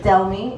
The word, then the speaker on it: Delmy: My name is Delmy. It's spelled D-E-L-M-Y.